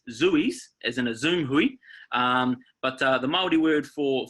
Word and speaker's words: hui: want to talk about today is Hui Hui is spelled h UI Hui and it's pronounced Hui is in who